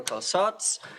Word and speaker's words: Calçots: So yes, this is the time for Calçots, and it rhymes with robots.